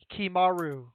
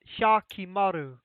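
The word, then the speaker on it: Hyakkimaru: The H and the Y and the A are all pronounced together. It's not like a he-ya. It's yo.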